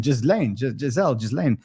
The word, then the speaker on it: Ghislaine: I don't know, how do you pronounce him? Ghislaine Maxwell.